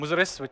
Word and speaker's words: Muziris: So it's at one point in history, this port, which I mentioned, Muziris, or Muchiripatnam, from the Indian pronunciation, was the biggest port in the world.